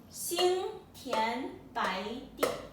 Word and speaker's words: 心田白地: So if you just pronounce it properly, it goes Xin Xin Tian Tian Bo Ai Bai De Yi Di. Xin Tian Bai Di.